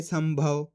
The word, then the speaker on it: संभव: जैसे कि यहाँ पे देखो संभव, सा के ऊपर अनुस्वार की मात्रा है, इसके बाद वाला अक्षर भा, ये रहा भा, तो आधा माँ पढ़ देंगे संभव।